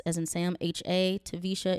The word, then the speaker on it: Taversha: The name is spelled T as in Tom, A, V as in Victor, E-R, S as in Sam, H-A, Taversha. It's spelled Taversha.